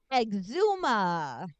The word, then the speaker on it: Exhuma: talking about today Michelle Exuma not to be confused with eczema that's a different thing and it's not even spelled the same it's a totally different